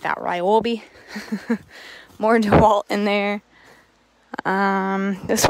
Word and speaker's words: Ryobi: We've got DeWalt brand on here, some Ryobi, some more. Why did I say it like that? Ryobi.